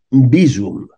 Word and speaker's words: Bizum: és Cancelo, Vinicius, UCI, Mice, Acicom, Amazon i Bizum. Donat que la C es pronuncia tal qual C i no C a la castellana, i en valencià la Z sempre és sonora.